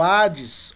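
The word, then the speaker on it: ᾅδης: Se você ouvir alguém pronunciando Hades ou Hades, não vai criticar o cara mais. Se o cara pronuncia como Hades, é porque ele está usando a pronúncia, né? Conforme o costumeiro. E assim vai. Eu prefiro não pronunciar Hades como Hades, mas como Hades apenas.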